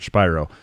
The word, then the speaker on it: Shapiro: And so I'm not sitting here saying I'm going to call him Shapiro, because Mark Shapiro is spelled the same way, and he pronounces it Shapiro.